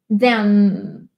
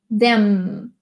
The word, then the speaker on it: them: Sempre que tem M em inglês, a gente fecha a boca. Them. Them.